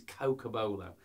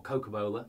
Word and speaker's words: cocobolo: Now, this is cocobolo on this guitar, or cocobola, depending on how you want to pronounce it.